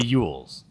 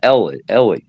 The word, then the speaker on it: Elwes: Well, the guy that's supposed to be playing Iceman in the movie is Kerry Ewells, and I believe that's how you say his name.